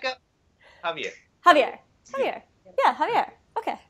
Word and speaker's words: Javier: What is the correct pronunciation? Because I'm horrible with names. Javier. Javier.